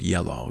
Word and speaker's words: Yelough: type of flower, and this is how the word yellow is written in the Land of Reeds, which is read phonetically as the word yellow in English.